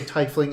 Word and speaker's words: tiefling: So I can be reminded that I say tiefling incorrect. Yeah. Tiefling. I'm never calling them tiefling. I'm not doing it. Wait, I thought it was Tiefling. You always called them Tieflings. No, it's Tiefling. I always call him Tiefling. I'd only ever said tiefling until I I call heard them him say TIE fighters. tiefling. Yeah, that's why, like, Tiefling. Like, oh, like, that sounds like tea leaves.